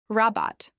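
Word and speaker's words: Rabatt: Rabat. This means discount. Use it inat which means is there a discount? Pronounce it as robot.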